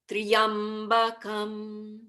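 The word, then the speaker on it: Tryambakam: So all I can say is put your intention to making Tryam all one syllable. Triyam, Triyambakam, Triyambakan Yajamahe.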